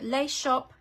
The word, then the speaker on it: Les Shoppes: it's spelled l-e-s-h-o-p-p-e-s but being French I don't know that you pronounce the S at the end of shop so lace shop and this is the